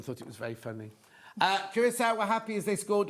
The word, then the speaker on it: Curaçao: Oh, he's done it phonetically, but it didn't come up. No. So how do you say it, Dan? Curaçao.